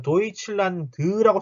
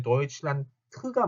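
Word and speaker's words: Deutschland: 참고로 독일어 끝에 나오는 d는 단어 끝에 있는 d는 발음이 t로 되죠. t. 그래서 요거 아실 거예요. 독일을 뭐라고 쓰죠? 도이칠란트라고 그러죠. 자, 도이칠란드라고 쓰는 경우 있어요. 아닙니다. 요거 뒤에 맨 끝에 나오는 D는 T 발음이 되기 때문에 도이칠란트가 맞아요.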